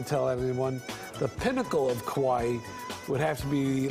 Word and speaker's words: kawaii: Well, there's actually a word for it, kawaii, pronounced like Hawaii. It's a cuteness culture, and it can refer to anything, a human being, an object that's lovable or adorable. You can have kawaii handwriting, kawaii shoes, kawaii little cousins, whatever.